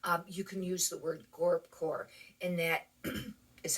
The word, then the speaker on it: gorpcore: can use the word GORPCORE, and that is how you spell it. And because at first I didn't know people were saying gorecore without a P or gorpcore with a P. It has the P.